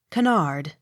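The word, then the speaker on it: Kennard: n a r d canard accent on last syllable k-e-r car k-n-o-l-l-y-s knowles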